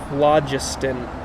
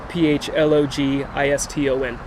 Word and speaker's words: phlogiston: a new country people believed in something called phlogiston i don't know if i'm pronouncing that right p-h-l-o-g-i-s-t-o-n phlogiston you know what that is no well